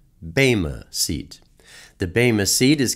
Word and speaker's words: Bema: mushiya Baima is usually pronounced by most as bhima but is properly pronounced Baima seat the Bema seat is comprised of a